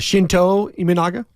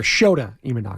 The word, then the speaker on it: Shota Imanaga: Well, the Japanese pitcher that you were afraid to because you don't want to be on a mispronunciation. Was it Shinto Imanaga?